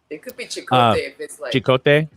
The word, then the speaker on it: Cicotte: of matthias uh cicotte how do you pronounce that second c-i-c-o-t-t-e chicote he's an alaska assistant attorney